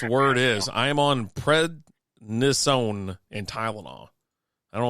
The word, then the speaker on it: prednisone: You almost said it right. Prednisone? It was close. Yeah, you're almost there. I put the wrong emphasis on the wrong syllable.